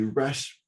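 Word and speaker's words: Rasch: is a an acknowledged expert in using the rash measurement techniques is how you pronounce it yes yes it is awesome that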